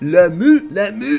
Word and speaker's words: Lamu: That would be the province of Lamu. That's exactly how you pronounce it, in case you're wondering.